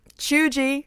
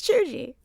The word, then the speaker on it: cheugy: do um why is my internet not working choo-chi it's juji because you're old and the internet don't work